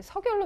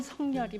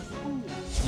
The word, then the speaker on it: 석열: 발음법상으로는 성열이 맞습니다. 석열이 맞죠? 아니요, 성열.